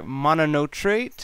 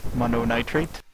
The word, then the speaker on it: Mononitrate: watch the German player monot trate or monot trate God I can't even say his name right mono nitrate thank you just call